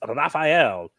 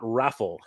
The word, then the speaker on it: Raphael: His name is pronounced Raphael, not Raffle.